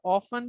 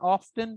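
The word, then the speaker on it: often: अच्छा, ऑफन भी प्रोनाउंसिएशन ठीक है, एंड ऑफ्टन pronunciation both are correct for this word.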